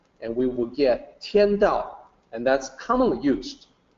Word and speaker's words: Dao: So you'll notice that the pinyin is Dao with a D, and the English word is Dao but with a T, but still should be pronounced with the D sound, Dao.